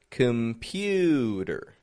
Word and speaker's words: computer: Listen for the syllable stressed in this word here. Computer. Which is the stressed syllable? The middle. The pew. Pew. Computer. The C-O-M isn't getting a com. It's getting just a kum. Kum. There's a schwa in there. Instead of a regular O. Com. Just a kum. Pewter. And then a schwa R ending.